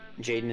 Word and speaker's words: JXDN: Jaden is spelled JXDN.